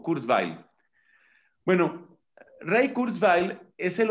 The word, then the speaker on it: Kurzweil: uno r la letra zeta wv y l kurzweil o kurzweil bueno ray kurzweil es el hombre que ha